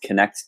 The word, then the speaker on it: Knekt: My name's Kent Speakman, and I am the founder of a online digital network called Connect TV, and that's spelled KNEKT .TV.